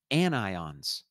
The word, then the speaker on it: anion: for negative ions is anions not anions even though it kind of looks like onions it's pronounced anion as in i've got an ion u and it's the